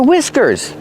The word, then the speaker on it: whiskers: The H is silent and we use the short I sound like this.